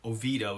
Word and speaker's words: Oviedo: The Oviedo is the way the locals say it. I have trouble bringing myself to say it that way.